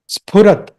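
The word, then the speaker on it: स्फुरत्: Not with the teeth. It's not a dental sound. Sphurat.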